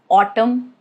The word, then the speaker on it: autumn: Letter N rule is it is silent if it comes after M at the end of a word. That is the condition like in the word autumn or column or dam.